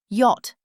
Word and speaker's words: yacht: Yacht, five letters. Yacht, pronounced yacht.